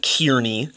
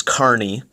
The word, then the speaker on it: Kearney: No, it's not Kearney, it's Kearney. Okay, so let's get our pronunciation right, those of you who are not from Nebraska.